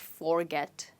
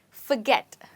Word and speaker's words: forget: you say this word it's not forget but forget you know the furry cat the word fur right so that's the